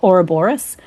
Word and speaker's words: Ouroboros: we're here to discuss the new single uh Ora Boris is that how you pronounce it because I always hear it pronounced